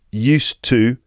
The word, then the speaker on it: used to: used used to. That's with a D and didn't used to. The used to sounds the same because the D at the end of used and the T at